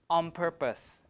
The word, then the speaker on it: on purpose: on purpose like that so the N will change to an m to match the place of articulation of the next sound which is p p is a bilabial so we pronounce it like on purpose I did it on